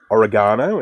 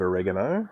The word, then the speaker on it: oregano: We say oregano instead of oregano, and we say basil instead of basil.